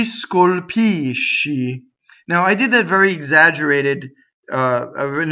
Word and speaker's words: scolpisci: When you sing, it has to be divided like this. If you have three syllables, you have three notes, and you have to do this: scolpisci. And in fact, the sh is considered a double consonant by Italians, right? So scolpisci. It's very strong.